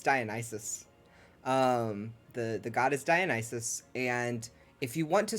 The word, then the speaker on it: Dionysus: I've been pronouncing it Dionysus. No, it's Dionysus. The god is Dionysus, and if you want to say that something is like Dionysus, it's Dionysian or Dionysian.